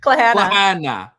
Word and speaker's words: Claire Hanna: We're so jealous and we know that you're going to be all over it at CL Hannah. Is that how you pronounce it or do you do cla clana clana all your social media obviously and we're